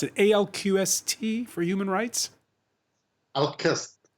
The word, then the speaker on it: ALQST: Al-Qist. Al-Qist in Arabic is fairness, so Al-Qist.